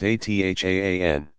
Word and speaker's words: adhan: Sometimes also the baby's father will whisper the call to prayer, adhan, pronounced athaan.